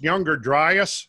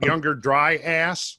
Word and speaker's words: Younger Dryas: talking about wet butts is that it's pronounced Younger Dryas not younger dry ass we don't necessarily have